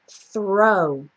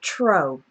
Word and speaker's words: throw: we have the word throw throw okay one thing you want to be careful of is don't say tree or tro okay that's more like TR you really want a nice clean th sound that just transitions